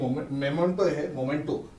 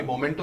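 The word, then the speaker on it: memento: हमारे पास एक स्मृति चिन्ह, एक मोमेंटो है ना, मैं सही प्रोनाउंस नहीं करूँगा, आप मेरे कान पकड़ लेंगे। नहीं, मैं यही सुधार देता हूँ कि मोमेंटो नहीं है, मेमेंटो है। मेमेंटो है? हाँ।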